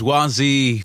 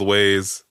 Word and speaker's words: Waze: Temu, even though it's spelled Temu. Temu. Anyway. It's the whole Waze Wazi fucking argument.